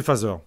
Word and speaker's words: Phaser: Phaser, c'est phaseur.